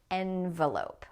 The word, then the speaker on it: envelope: This is with the eh sound as in bet, envelope.